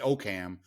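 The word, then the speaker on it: Oakham: i guess in oakum oh is it okam it's okam that was another how is it spelled o-a-k-h-a-m see if we screw this up we're going to get letters and like like i would look i would see that and i would say okam exactly okay it's okay even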